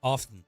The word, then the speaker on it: often: f t n off often off yeah you're saying you skip the T yeah you don't say